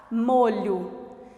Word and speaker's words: molho: mesa olha palavrinha destaque molho observe a palavra molho é escrita com a letra O no final nela War na sílaba tônica que é o maior tem um som de ó enquanto o na sílaba